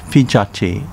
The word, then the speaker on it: Higashi: higashi pronounced fijaci in uchinanguchi and is famous for